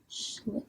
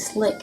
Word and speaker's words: schlick: Schlick, yeah. S-C-H-L-I-C-K, okay? It ain't slick, it's schlick.